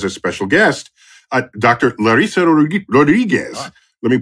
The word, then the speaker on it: Rodrigues: Larissa Rodrigues. Let me pronounce that right again.